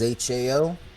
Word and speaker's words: Hao: introduction to the character Hao, and that is Hao, but it is pronounced Hao, Who Yep.